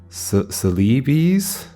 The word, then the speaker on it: Celebes: Celebes. Oh, that's the American English pronunciation, or Celebes? Celebes in British English, apparently. Or Celebes. I guess I'll do the British one, Celebes.